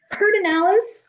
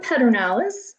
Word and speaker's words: Pedernales: So we have Pedernales or Pedernales, depending upon how you want to pronounce it, Falls State Park.